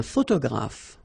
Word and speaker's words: photographe: So here ph and here ph. Pronounce it like f, f, f, f.